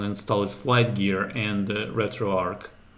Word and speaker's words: RetroArch: flight gear and retroarch not sure if it's pronounced retroarch or retroar Arch I have a feeling that people pronounce it both ways but the one tutorial that I watched the it was pronounced retroarc there so I guess as in like Arc for architecture that makes sense but